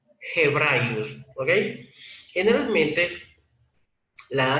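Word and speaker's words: Ἑβραίους: Aquí Hebraius, pros Hebraius, que es la correcta lectura, pros Hebraius, esa G se representó aquí con la H, pero no la H muda como está en hebreos, sino la H como en el inglés, como la H como en hebreo.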